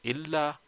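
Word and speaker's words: إلّا: So whenever you see a word with tashdid, you would pronounce it as illa, and whenever you see this small ya attached to it, you would pronounce it as ila. So you can see this is illa and this is ila.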